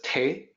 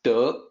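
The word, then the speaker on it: 德: way so the the second character which people mispronounce as Tay it's duh that second character means virtue so it's actually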